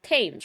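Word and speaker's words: Thames: It's Tames, right? That H is silent where an accomplice was waiting in the car.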